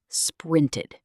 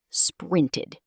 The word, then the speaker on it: sprinted: sprinted This ending is not a D or a T sound. It's pronounced as ed, like a short i sound plus a D. sprinted You can think of